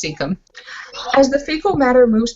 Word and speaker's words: cecum: By the way, I got corrected on that today. It's pronounced cecum.